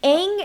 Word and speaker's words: Aang: it was not fun can we also talk about how they ended up completely mispronouncing the characters names like eng and uh saka you know like they were probably like one of the main characters and apparently like you know uh in the movie they go by ong and soka for some reason yep like why what's